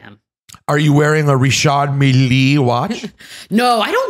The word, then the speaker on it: Richard Mille: Yeah, because a lot of people say Richard Mille, and that ain't right. Richard. No, it's Richard Mille.